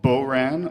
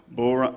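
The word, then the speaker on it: bodhrán: not much okay anyway this drum right here is called Bo ran or bell rung or boa there's really a lot of different pronunciations of it but essentially it's just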